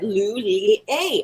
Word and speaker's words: Lulia: help answer phones and i had to say i don't know how to pronounce the name and she said lou lee a and i was like oh okay great and there i am